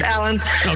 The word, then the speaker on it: Aellen: It's pronounced Allen, right? Yeah. Just Allan.